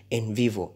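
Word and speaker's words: NVivo: popular computer program that is used with quality in vivo it is spelled as n v i v o uh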